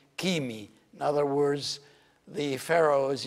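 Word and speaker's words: ⲭⲏⲙⲓ: from some other language, this letter is always pronounced k. And the example is kimi, and I said the word kimi, actually it is derived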